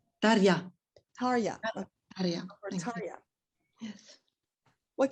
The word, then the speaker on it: Tarja: Tarja.